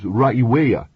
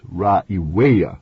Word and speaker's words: Raiwea: Its name is Raiwea. That's Raiwea, with the accent on the third syllable, the way the Polynesians say it, and it's the only